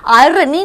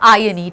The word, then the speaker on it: irony: Contrasting to the reality, इसको आई नहीं बोला जाता है। आयरनी नहीं होता, आर साइलेंट करते हैं, ये एक्सेंट होता है बोलने का, आयरनी, ठीक है।